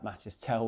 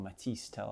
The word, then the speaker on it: Mathys Tel: Uh Mathys Tel, when he came on, or Matys Tel, I've been told I'd be pronouncing it wrong.